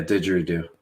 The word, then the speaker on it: didgeridoo: I was in Australia, and obviously, I'm sure you've heard of a didgeridoo, right? I think I'm saying it right. Yeah, didgeridoo.